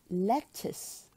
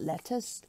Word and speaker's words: lettuce: LG pali pali pali not Khaliq but poly lettuce lettuce lettuce not let us not let u s-- but let us children